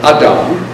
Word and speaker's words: Adam: expulsion from Eden starting with our good friend Adam which I pronounce that way because that's the what you